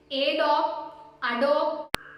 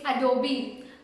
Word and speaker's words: Adobe: Adobe. No, it's Adobe. Adobe. It's not Asus or Asus.